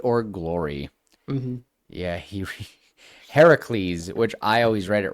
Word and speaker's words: Heracles: Just know that We have been saying it wrong. we've been saying it wrong, and his name, by all technicalities, Heracles. Heracles.